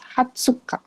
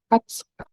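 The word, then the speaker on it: 二十日: It's not niju. It's not niju, but it is hatsuka. 20 日。 Hatsuka.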